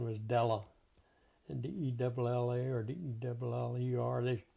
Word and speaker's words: Della: And D-E-L-L-A or D-E-L-L-E-R. They pronounce it like Deller.